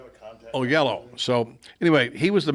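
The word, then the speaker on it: Oyelowo: david uh only only i can never pronounce his name but oh yellow oh yo yellow because it's like o o y o-y-e-l-o-w-o oh yellow so anyway he was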